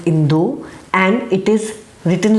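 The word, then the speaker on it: インド: examples for example India in Japanese is called indu it is not called India it is called Indo and it is written like this and it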